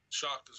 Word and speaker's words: Shakas: Shakas. Yep. Okay. You said it right. Nobody ever says it right.